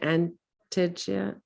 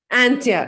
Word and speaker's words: Antje: Antija? Antija, I'm sorry. It's Antje. Antia. Okay. Antia. So the J is silent.